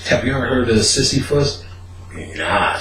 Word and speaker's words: Sisyphus: So the next day I went to work, I looked up Sisyphus, which they said, people think it's Sisyphus, but it's pronounced Sisyphus.